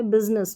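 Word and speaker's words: business: तो यहां पे बिजनेस बिनेस आई की ध्वनि नहीं सुनाई देती और इन्हें याद करना पड़ता है।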